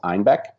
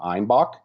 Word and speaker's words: Einbeck: in a region called einbeck and um due to um a pronunciation error um somewhere along the line they started calling them einbach which translates to billy goat and that's why you